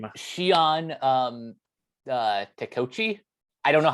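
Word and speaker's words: Shion Takeuchi: forgot her name Shian um uh Teochi I don't know how to pronounce her last name uh yeah Shion Takuchi I think that's how that's the correct pronunciation yeah yeah okay so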